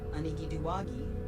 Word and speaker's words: Illumiwiji: Name meaning: Illumiwiji translates to wild potato people, referencing their traditional role in gathering and cultivating wild potatoes and other plants along riverbanks.